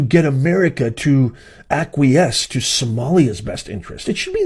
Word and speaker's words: Somali: and say it's actually we're not Somalians it's pronounced Somali if you're going to